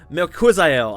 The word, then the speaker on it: Melquizael: Melquizael, that's how you say it. I just had to pull it up on the I'm looking at it right here. Melquizael, Costa, and Julian Ersoa really went to war.